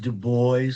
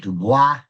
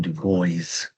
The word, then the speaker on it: Du Bois: It's pronounced Du Bois for the most part. It should be called Du Bois. It's been, I guess it's commonplace to call him Du Bois.